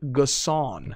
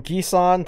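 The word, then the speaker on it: N'Guessan: in terms of newcomers and here's the correct pronunciation david gasson gasson gasson i've gone from ghisan to gessen to gassan so you can group him with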